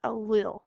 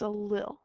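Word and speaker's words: allele: the next word is a funny word it's mispronounced all the time so say it with me it's a li one more time it's a li a li is the letter used to describe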